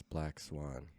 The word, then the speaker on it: BLK Swan: How do they mispronounce Black Swan? Because my poetic name is not spelled BLACK. It's spelled BLK. Yes, I knew that. Okay, but and I've had people not say black on the BLK.